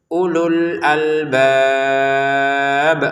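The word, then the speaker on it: أولو الألباب: Ee kenapa menjadi pendek? Karena di sini ada sukun. Jadi kita bacanya ulul albab.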